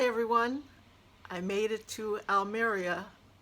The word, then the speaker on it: Almería: I made it to Alia or Al Maria as I've heard it pronounced the most so I I'll call it Al Maria in Spain I left